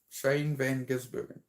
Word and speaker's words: Shane Van Gisbergen: Shane Van Gisbergen.